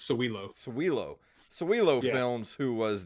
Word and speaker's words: Sowilo: and also celilo films is that how it's pronounced sawilo uh pretty close man excuse me it's sowilo cewelo cewelo films who